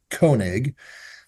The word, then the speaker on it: Koenig: was King's awnings so my last name is kig uh in German it's kig so and kig in German means king so my dad's first